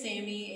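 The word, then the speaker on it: Zami: So my name is Sammy. It's pronounced like with an S, but it's Arabic, so it's Z-A-M-I.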